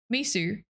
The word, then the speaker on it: miso: Miso. Mum, it's miso. Have some miso soup. I knew somebody that used to pronounce ramen as Raymond, like the name.